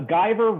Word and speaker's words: Guyver: A Guyver rhymes with diver.